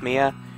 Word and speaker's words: Mia: her Maya but I know everyone calls it's pronounced Mia you know how uh she was the mentor